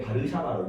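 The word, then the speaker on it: Warszawa: 나토라 하고 여기는 어 바르샤바 조약 기구라 그래 WTO WTO 바르샤바 조약기구 그 러시아에서가 있잖아 B 발음이 난다 b b b 그래서 바르샤바데 바르샤바로 읽어요 바르샤바 조약 W 바르샤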